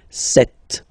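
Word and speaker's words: sept: Alright, then here remember P is not pronounced. Okay, it doesn't exist, so you get this set sound.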